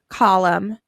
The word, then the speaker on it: column: letter B's are silent our next column him column an autumn at the end of each one of those words you hear hmm you don't hear the N so you're going to underline em n in all three of those words and you're going to circle the end because it is silent our last column calm